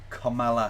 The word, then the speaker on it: Kamala: Because we were talking about the pronunciation of Kamala Harris's name.